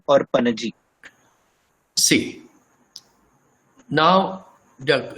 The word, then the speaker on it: Panaji: What is the correct pronunciation of the capital of Goa? Panjim or Panaji?